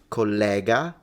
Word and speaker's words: collega: And so a collega with an open e is your colleague, but collega with a closed e is the third person singular of the verb to connect.